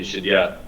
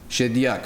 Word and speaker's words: Shediak: In Lebanon, they say Shadia. They don't pronounce the ending. Okay. But if you're like Arab, you say Shadia. Shediak.